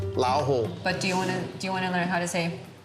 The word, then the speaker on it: 老虎: 老虎. 老虎.